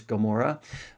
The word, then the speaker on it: Gomorrah: We all know the story of Sodom and Gomorrah, or as it's pronounced in English, Gomorrah.